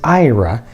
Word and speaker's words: Ira: On the right is Ira, which is spelled like air a I r a.